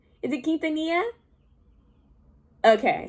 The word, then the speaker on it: Quintanilla: and i i put i pronounced it as quint quint i was like oh god why like this is why i need to do better but it's quintanilla i think it's quintanilla quintanilla correct me if i'm